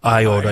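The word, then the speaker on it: Eyota: Academy all right Matthew did you say eota eota eota all right that's east of Rochester did I pronounce that properly I okay Iota Iota yeah but you know what close enough close enough what's the trend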